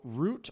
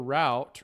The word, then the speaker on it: route: Okay, so root or route rhymes with out or boot.